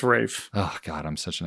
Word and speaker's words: Ralph: We've got Ralph Fiennes back as M. Or Rafe. Is it Rafe? It's Rafe.